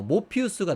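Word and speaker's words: Morpheus: 뭐 이렇게 줬던 어 모피우스가 나오잖아요.이 영어식 발음이 모피우스인데이 모피우스도 모르페우스의 그 그리스 로마 신하의 영어식 발음입니다.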